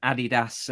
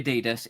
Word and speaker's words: Adidas: Americans say Adidas. It is actually Adidas because um it's Adi Dazzler. Because I say it is. No, no, no. It's cuz it's it's a German company.